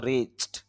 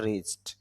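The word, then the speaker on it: reached: Rich, rich থেকে হয়ে গেল রিচড, কেন সর্বশেষ অক্ষর স সাউন্ড রয়েছে, এই জন্য রিচড। তারপর হেল্প, হেল্প থেকে হেল্পড, লাভ থেকে লাভড, পাবলিশ থেকে পাবলিশড, গেল।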